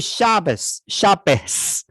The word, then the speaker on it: Shabbos: 北方口音，这叫什么夏巴，叫什么 Good Shabbos，它发 s，对吧？